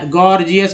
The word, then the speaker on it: gorgeous: जैसे गॉर्जियस का एक वर्ड ले लेते हैं, GORGEOUS, गॉर्जियस मैंने लिखा है, तो पहला जी जो है ग के रूप में, दूसरा जी जो है ज के रूप में उच्चरित हुआ है, इसका प्रोनाउंसिएशन हुआ।